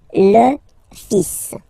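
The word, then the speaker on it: fils: So it's L and then even if it you've got this L. Well, basically you don't pronounce it. And then strangely you pronounce the final S. Lis l.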